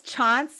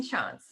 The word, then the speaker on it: Tschanz: um this is megan chance is that i say your last name it's chance like there's a basketball player called chauncey phillips so just like take off the ey at the end and yeah how do